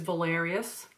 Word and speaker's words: Valerius: His name is Valerius, and it's spelled V-A-L-E-R-I-U-S, and we call him Val for short.